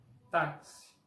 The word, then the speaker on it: táxi: Por ejemplo, caixa con sonido de SH, máximo con sonido de S, exato con sonido de la Z portuguesa, táxi con sonido de XI, de KS.